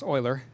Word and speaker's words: Euler: Yes, it's pronounced oiler, I'm not sure why.